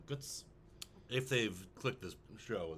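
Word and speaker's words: Götz: calls him guts guts it's g-o with the um loud over it TZ and that's pronounced like guts if they've clicked this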